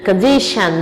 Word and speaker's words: condition: Essa é a pronúncia, shan. Condition, nutrition, ambition.